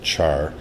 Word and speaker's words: char: variable type is called i call i pronounce it char for it stands for character though and that's just